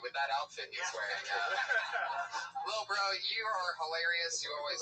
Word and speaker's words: LilBrough: He spells bro with 3 silent letters at the end. Lil Bro.